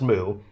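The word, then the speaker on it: mu: The moo character, it's actually pronounced moo for micro is for 1 millionth.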